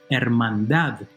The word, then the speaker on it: hermandad: This word is properly pronounced hermandad, with a stress in the very last syllable.